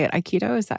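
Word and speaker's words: Aikido: Iikido. Is that how you pronounce it? Iikido. Mhm. Yep. Iikido.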